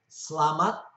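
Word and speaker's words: selamat: two sorts of e's the first e is soft and it's virtually not pronounced an example of this is more commonly and that means safe slamat the next e in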